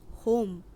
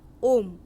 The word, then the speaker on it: homme: এরপর দেখব 5 নম্বর পয়েন্টটি, ফ্রেঞ্চ শব্দের এইচ বর্ণটি ভাওয়েল হিসেবে ব্যবহৃত হয় এবং শব্দ উচ্চারণের ক্ষেত্রে এইচ অ্যালফাবেটটি নিঃশব্দ থাকে। অর্থাৎ HOMME নট হোম এর উচ্চারণ হবে ওম।